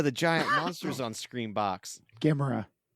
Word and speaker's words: Gamera: Gamera, the giant monsters on ScreamBox. Gamera. It's pronounced Gamera, not Gamera?